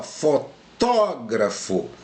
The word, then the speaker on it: fotógrafo: Ó, fotógrafo, né? E aqui é fotografo. Eu fotografo alguma coisa. Então aqui a sílaba tônica é o tó e aqui é o gra.